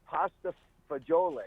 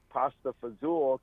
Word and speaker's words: pasta fagioli: How do you say it? So it's pasta fagioli. It's beans. It's pasta and beans. Dean Martin came up with pasta fazool because it rhymed.